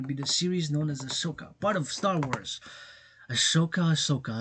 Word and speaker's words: Ahsoka: We're not gonna be movie, but it's gonna be the series known as Ahsoka, part of Star Wars. Ahsoka. I tend to pronounce it a little bit vice versa. Ahsoka, Ahsoka, Ashoka, Ahsoka, Ashaok.